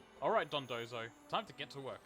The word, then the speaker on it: Dondozo: Thanks for saving this doozy of a Donzo. Alright, Dondozo. Time to get to work. I've been saying it wrong this entire time. The N is after the first Do. Not the second.